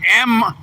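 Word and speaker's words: Meijer: It's M-I-J-E-R, Mijer Distribution Center. Mijer Distribution Center, I guess, is what it is.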